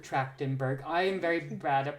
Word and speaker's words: Trachtenberg: Did I pronounce the last name wrong? Yes, it's Trachtenberg. Trachtenberg.